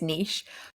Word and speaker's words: niche: my thought is definitely how do pronounce nich or Niche uh I think the English pronunciation is Niche but I do really